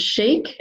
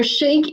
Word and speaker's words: Sheike: I guess resolution to make sure that I pronounce them correctly so I called and she answered chic and I went thank you so much you've just answered my question so chic is an awesome brand and I was introduced